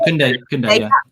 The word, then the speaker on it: Koundé: And you also get the young player, I don't know how you say his name, Koundé? Is that how you say it? Koundé, yeah.